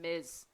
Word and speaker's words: Ms: So in terms of pronunciation, Yariza, it's Miss and Ms. So it's like bzz, like a bug or a bee. Bzz. So Miss and Ms. So it's like Z. There's like a Z in the Ms.